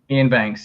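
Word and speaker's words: Iain Banks: Is that how you say his name, Ian Banks? Ian Banks, yeah.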